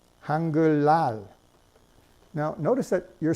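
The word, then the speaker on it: 한글날: five hundred seventy years right you know that's pronounced hunger loud now notice that you're spelling it with an Ian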